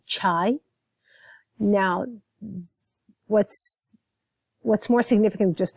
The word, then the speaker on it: chai: So we would say chai and not shai.